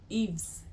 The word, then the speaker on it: Yves: His first name is, I believe that's French or Malian. Yves. In wale wanajua watu wanafuataga designers mnasemaga Yves Saint Laurent.